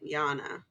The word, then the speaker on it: Jana: 10, 15 feet at Jana. Jana. Except I think we should be pronouncing it Yana.